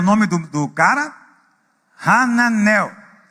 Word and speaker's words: Hananel: nome do do cara hananel hananel tô falando a pronúncia Hebraica né mas em português não tem esse ra é só a mas de qualquer maneira